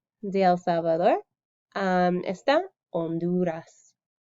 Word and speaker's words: Honduras: el salvador um honduras is silent the h in spanish is silent so then we forget the h is there and we say so